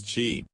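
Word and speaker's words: Qi: person's life energy or tea pronounces Chi everything in us all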